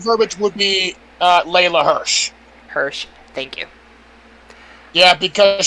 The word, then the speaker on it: Hirsch: The correct verbiage would be Layla Hirsch.